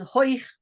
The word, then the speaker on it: hoich: Bis sie hat bekommen a geschwollenem, sorry, hoich in dem dancing school, bis she hat bekommen a geschwollenem, and hoich rhymes with boich till she has a swollen stomach in the dancing stool.